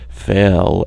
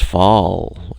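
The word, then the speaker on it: Fahl: Fail, F-A-H-L, being pronounced fall, F-A-H-L, because people want to call it that, but how the internal workings of our family growing up had conditioned us to say fail, and now certain siblings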